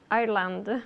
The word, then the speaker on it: Ireland: Ireland. Yeah, the D at the end, okay?